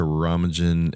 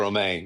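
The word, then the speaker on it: Romijn: I like the play between, is it Rebecca Romajan and is it Patton Oswalt? Patton Oswalt. Yeah, that was Rebecca Romaine. Yeah. Romaine. Yeah. I knew I wasn't saying it right.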